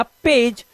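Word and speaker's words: page: अब यहां पर हमने गा नहीं लगाया, और लास्ट वाला ई हमेशा होता है साइलेंट, इसका उच्चारण हम नहीं करते, तो ये बन गया पेज।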